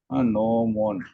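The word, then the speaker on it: gnomon: as n one okay noon okay you can see there the spelling is g n o m o n Okay g is silent over there it is called as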